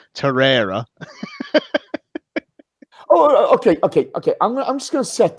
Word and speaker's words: Torreira: absolutely and two things I'm gonna pick you up for saying Torre era because we're getting abuse on Twitter for saying his name wrong torero okay I'm just gonna